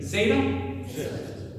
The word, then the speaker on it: zeta: So zeta be you start with a d like you're going to say duh but then you just kind of like rob it with a z. So you s you're going to commit to a d and also like no I just decided to go. Okay. So zeta is going to be z.